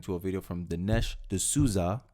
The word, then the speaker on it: D'Souza: We're reacting to a video from Dinesh D'Souza. I said it right this time. Last time I said D'Souza, and you guys gave me hell last time.